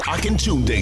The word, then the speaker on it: Akintunde: It's the Akintunde Show.